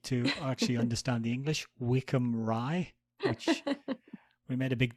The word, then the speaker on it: Wycombe Rye: people who need to actually understand the English, Wickham Rye, which we made a big deal at the time about the fact that you thought it was actually pronounced Wycombe, because that's how it's spelled.